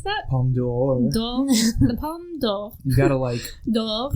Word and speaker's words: Palme d'Or: The Palme d'Or. You gotta D'Or. you gotta almost say the apostrophe.